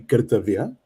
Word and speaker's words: Kartavya: native proper Hindi pronunciation would be Kartavya, and the word, uh, the second word would be Dubai.